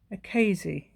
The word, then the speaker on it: Akasi: Oh, I must tell you, the lady that gave me the idea is called Gillian Akasi. That's a good name, isn't it? Almost rhymes with hazy.